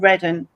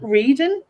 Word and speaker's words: Reading: We have a place here called Reading, but it's spelt reading. So the whole of me wants to say, it's reading, but it's Reading. That's how you pronounce it.